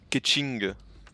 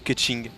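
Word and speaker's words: Keqing: Moi je joue Ketching sur Genshin Impact.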